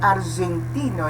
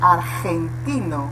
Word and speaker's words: argentino: Depois, letra G, não é argentino, é argentino, né? Nessa pronúncia você vê que é gutural, não é verdade? Aqui, então, na verdade é aspirado, né? Argen, como se fosse, na verdade é diferente, você tem que colocar a pronúncia como se fosse a aspiração na garganta, gen, né?